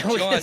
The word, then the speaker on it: jawn: John, by the way, is spelled Jawn, if for anyone wants.